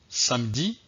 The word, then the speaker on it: samedi: n'ai pas prononcés donc le e qui est à l'intérieur du mot n'est pas prononcé donc on va voir des exemples pour illustrer cette situation alors voici mes exemples samedi à demain médecin samedi